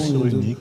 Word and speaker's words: Cyrulnik: Non, ça se Cyrulski, prononce Cyrulnik.